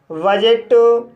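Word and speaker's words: budget: इसी तरह से बजट, लेज़र, कजल, गैजेट। तो गाइस इन सभी वर्ड्स में भी डी के बाद जी ई आया है, इसलिए डी साइलेंट है।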